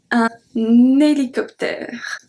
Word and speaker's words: hélicoptère: Now let's see a different one with H muet, so acting as a voyelle, so we link.